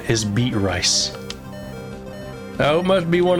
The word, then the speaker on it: Beatrice: So the name Beatrice, right? The way that Beatrice is spelled made no sense to me as a kid, so I read it Beat Rice.